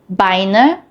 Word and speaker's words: Beine: EI is pronounced like I and IE is pronounced like E.